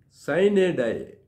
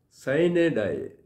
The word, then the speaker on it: sine die: afterwards the seventh one cyanide cyanide that is the anglicized pronunciation it is from Latin if you want the